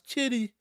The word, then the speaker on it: Giddey: Josh K if Josh Josh Kitty I said it right not Josh gidy Josh Kitty if Josh Kitty was